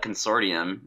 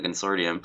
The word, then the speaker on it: consortium: I think I actually looked it up, and it's one of those weird English words where both pronunciations are acceptable.